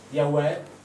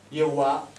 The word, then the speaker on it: Yahweh: anche loro il giusto, perché questo si legge Yahweh, Yehovah, Yiwi. Cioè sono tutte letture giuste, perché nessuno al mondo sa come fosse pronunciato questo nome quando è stato detto per la prima volta.